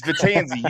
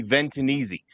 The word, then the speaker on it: Vetanze: And honestly, the way it's spelled, Matt, that's how it should be pronounced, but it's not. It's Vetanze, but I appreciate that